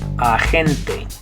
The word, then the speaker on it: agente: But instead of saying it, agent, you say it agente.